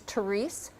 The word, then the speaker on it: Terese: My name is Theres. It rhymes with harmonic.